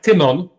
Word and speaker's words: Tymon: First name would be more like Tymon.